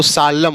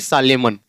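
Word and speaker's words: solemn: atom होगा ऐसे यहां एस ओ एल ई एम एन तो सालम होगा ना कि सालमन ऐसे य सी ओ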